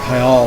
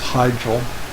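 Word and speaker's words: Hyjal: I always pronounce it Mount Hyel, or Hygel. Mount Hyal was how I pronounced it originally, I think. Everybody says Hygel. I was putting the Spanish slant on it for some reason.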